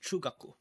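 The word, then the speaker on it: 中学: And that's pronounced chugaku. So chu chu chugaku. So you see how like it's pronouncing two U's here?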